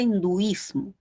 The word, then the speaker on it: hinduismo: Entonces, ¿por qué no se tilda la palabra hinduismo? Porque primero, yo sí la veo, ¿no es cierto? Tenemos 3. De esas 3 sílabas, la que suena más es duis, ¿no es cierto? Esta es la sílaba tónica.